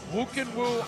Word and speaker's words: Khuukhenkhuu: one is a tongue-twister doesn't look like woo can woo at all but that's how you pronounce it woo can woo ama tution fighting for